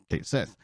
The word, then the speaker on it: Cait Sith: a kid um and they said in Final Fantasy 7 rebirth Kate Sith is pronounced as Kate Sith now I didn't know